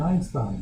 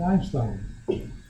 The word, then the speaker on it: Einstein: I said, oh, you mean Einstein? No, I mean Einstein. That's how it is pronounced in the native language.